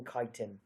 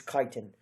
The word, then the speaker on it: chitin: and they have a cell wall made from kiten okay not from chitin or however else people won't pronounce it it's kiten protoctista it's just one thing you have to